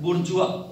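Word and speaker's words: bourgeois: इसको बोला जाता है बुर्जुआ। बेसिकली ये जो स्पेलिंग लिखी हुई है इसको हिंदी में बता दे रहा हूं मैं, बुर्जुआ बोला जाता है।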